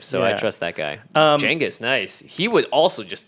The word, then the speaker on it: Genghis: Genghis is the correct pronunciation.